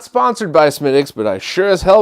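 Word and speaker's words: Smithwick's: Cloud, this is Smithix. I don't know why they call it Smithix. It's spelled Smithwix.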